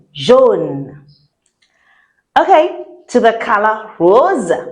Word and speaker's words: rose: Okay, to the color rose. Rose. If you can't say rose, like the way I say it, you can say rose.